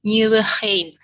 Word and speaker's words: Nieuwegein: Sustainable Consultancy Services for the Built Environment in Nieuwegein, the Netherlands. Do I spell it right? It's not an easy city to pronounce. Nieuwegein.